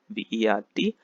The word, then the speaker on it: vert: Okay, so the first color is green, the masculine is vert, V-E-R-T, vert, where the T is silent.